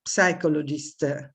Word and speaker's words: psychologist: you run a sports psychologist at bruno universe awarded from greek that is with ps the p is silent so it's psychological psychologist psychology psychologist at